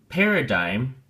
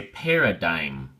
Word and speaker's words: paradigm: socks so we say paradigm the G is silent and the eye is a hard I it's like two nickels make up a dime so it's the same